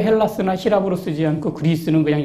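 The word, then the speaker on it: Ἑλλάς: 그래서 제가 히랍 사람들은요, 자기네 나라를 헬라스라고 불러요. 혹은 H 발음이 약해지고 좀 다른 형태를 써서 엘라다라고 부르기도 합니다.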